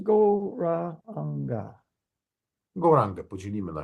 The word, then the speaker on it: Gauranga: Gauranga will be divided into 4 syllables, Gauranga.